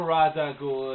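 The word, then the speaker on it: Ra's al Ghul: going to be doing my R ghoul timeline or Raza ghoul if you're one of those pronunciation stifflers but I'm just going to go with the pronunciation that I feel comfortable with the one that I grew up with the animated series one ra ghoul now whether or not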